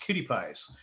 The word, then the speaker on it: QTPIs: minds and bodies of QTPIs, pronounced cutie pies, queer and transgender Pacific Islanders through community organizing, political engagement, and cultural stewardship.